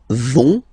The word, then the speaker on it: vont: But then you don't pronounce it, so ils vont, final T, not pronounced.